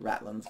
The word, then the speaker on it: ratlines: are the ratlines, or I think they actually pronounce it as just ratlins for short.